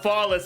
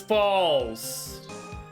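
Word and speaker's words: Fawles: It's not Follis, it's Falls. Terry Falls. He's taking the fall. I've been saying it wrong this whole goddamn time. I've been saying it as Fallis, not Falls.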